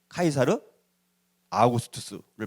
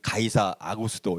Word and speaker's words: 카이사르 아우구스투스: 그래서 그때 가이사 아구스토 이 사람이 카이사르 아우구스투스를 말하는 거예요. 근데 이제 이 우리나라 번역에는 가이사 아구스토 이렇게 좀 원어대로 발음은 잘 안 됐지만 아무튼 자 그렇게 이제